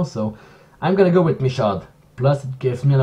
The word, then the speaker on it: Michaud: I know because it's close, it's pretty much a French family name that you can pronounce it Michaud, but at the same time the English producers all call him Michaud, so I'm stuck between one of the two. I think I'm gonna go with Michaud because that's how everyone